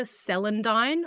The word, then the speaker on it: celandine: Then I've also got greater celandine. I think that's how you pronounce it.